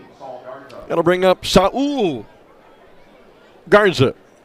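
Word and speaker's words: Sal: That'll bring up Saul Garza. spelled s a l but pronounced saul Garza and uh we talk about guys swinging the lumber had a couple of hits last night.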